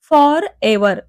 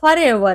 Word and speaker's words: forever: apply करायचा next आहे फर एवर आता इथे बघा याच जे प्रोनन्सिएशन आहे फॉर एवर नाही तर फरवर आहे फर एवर क्लिर